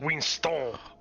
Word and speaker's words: Winston: into the right headspace middle name actually robespierre winston frog but it's pronounced wing stone and then i'll do